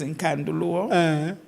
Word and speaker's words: Nkandu: So one of the times we were given a statement to make, which was Minyaza Vuti Nkandu. Minyaza Vuti Nkandu. My name is Nkandu.